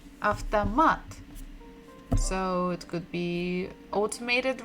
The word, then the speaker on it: автомат: And it begins with буква А. А. В. Т. О. After. It means auto. If you just say авто like this, it will be a car or something the beginning of other word. After, m. A. T. Автомат.